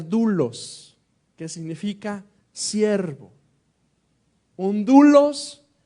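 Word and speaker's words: δοῦλος: Hay una palabrita muy especial que en el Nuevo Testamento originalmente se pronuncia doulos, que significa siervo.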